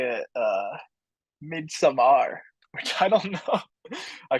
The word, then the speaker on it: Midsommar: it tells you like mid-summer on Google um Ari Aster I think pronounces it as mid-summar so I guess if